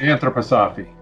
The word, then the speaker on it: anthroposophy: How is that pronounced? It's a subset of... it's anthroposophy.